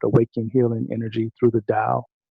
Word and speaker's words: Tao: Healing Energy Through the Tao. And I'm saying Tao because that's how the Chinese typically say it, but it's spelled Tao.